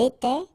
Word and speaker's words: était: Remember, final S, here, final T, and then here, and T, you don't pronounce them.